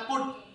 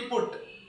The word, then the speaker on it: put: पर लिखा रहता है पुट पी य टी पुट और बी यटी बट अब पी यटी यहां उ का उच्चारण छोटे हो के उ से और यू का उच्चारण अ तो अ कब बोलेंगे